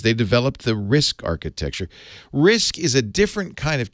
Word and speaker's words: RISC: ate corn computers they developed the RISC architecture risk is a different kind of chip design from